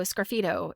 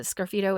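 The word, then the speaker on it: sgraffito: So, a scido is spelled S. The S is silent. S G R A F I T O. That is it's a scidito is a type of um like scratching into pottery.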